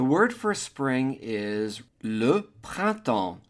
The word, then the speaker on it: printemps: The P-R-I-N is a nasal I-N as in invité, prin, first syllable. Second syllable is temps, which is the word for time, and the E-M-P-S is a nasal sound, sounding like en as in enfant, child.